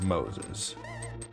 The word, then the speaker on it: Moises: It's It's spelled like Moises, but it's it's Moses.